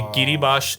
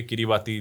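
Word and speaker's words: Kiribati: ये किरीबाश एक और कंट्री है। किरीबाती लिखते हैं स्पेलिंग में।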